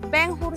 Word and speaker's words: Benhur: Que me gustaría que me diera Benhur, no Benhur, sino Benhur. Benhur, ok. Benhur es la pronunciación inglesa, pero ¿Sí? Yo prefiero hacerlo en español.